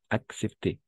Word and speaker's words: accepter: ¿Cómo accepter? Cuando hay esa dos E, vamos a pronunciar dos con sus dos sonidos.